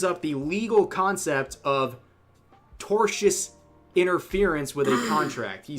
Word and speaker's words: tortious: the legal concept of tortious interference with a contract. He says it in a very funny way. He he has a hard time pronouncing tortious. Tortoise Tortoise interference.